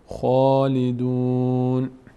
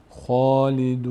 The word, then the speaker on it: خالدون: خواندن خا فرقش چیه خالیدون خالیدون خالیدون اشتباست این خا رو ما باید پر بخونیم میشه چی خالدون این آیه رو از